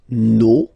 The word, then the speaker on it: nos: Okay, and then for the plural, nos, vos, and then leur. Okay, so remember, even if you've got this final S, you don't pronounce it, as it was the